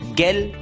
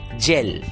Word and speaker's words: gel: दोस्तों, इस शब्द में भी जी के सामने ई यह अक्षर आया है और इसलिए इस शब्द का उच्चारण गेल न होकर उच्चारण होगा जेल।